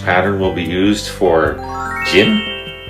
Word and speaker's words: Jin: The next syllable begins with a, J. which is closest to our J in English. And the second letter is the vowel. It's pronounced, I. in English it sounds like I. In English it sounds like E. And the third letter is, 은.